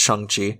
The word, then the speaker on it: Shang-Chi: He's attached to Shang-Chi, which apparently we've been saying that wrong. Apparently it's pronounced Shang-Chi.